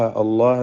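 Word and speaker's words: الله: വായിക്കുമ്പോൾ ഉബുദുളാഹ അവിടെ വാവ് ഒഴിവാക്കുന്നത് ഇതിാക്കുന്നതിന വേണ്ടിയാണ് ഉബുദുളാഹ അള്ളാ എന്ന ഇസ്മുൽ ജലാലയിൽ ലാമിന് തഫ്ീമാണ് തടിപ്പിച്ചു പറയാുള അളളാ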